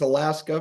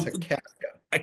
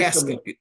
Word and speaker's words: Akaska: Roy, you are, again, is it Akaska. Is that how you pronounce that Yep. town? Yep. Everybody thinks it's Alaska, but it's Oh, Akaska. Very Akaska.